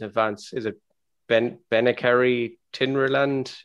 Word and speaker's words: Tinryland: is it been benicary tinryland is that right benefiting the island yep tim ryland's how you pronounce it isn't it i know i've driven